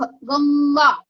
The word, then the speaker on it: गंगा: तो यहाँ पे क वर्ग का प्रोनाउंसिएशन है तो इसका प्रोनाउंस क वर्ग का पंचमाक्षर है, इसलिए उसका प्रोनाउंसिएशन उंग होता है, शंख गंगा।